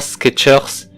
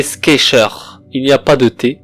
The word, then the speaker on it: Skechers: Je vais faire sur la marque Skechers. Et non, c'est pas Skechers, c'est Skechers. Il n'y a pas de T dans Skechers, c'est faux. Il n'y a pas de T. En fait, c'est sans le T.